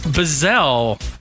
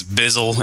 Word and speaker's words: Bizzell: And I pronounced your last name right. You did. A lot of people think it's Bizzle ever since the Snoop Dogg thing happened, which is great.